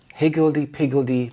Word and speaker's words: higgledy piggledy: Higgledy piggledy means disorderly or chaotic. The stress is on the first syllable. Hig higgledy piggledy.